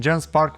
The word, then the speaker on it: Genspark: And Genspark, that's how you say it, one word, calls itself all-in-one AI workspace.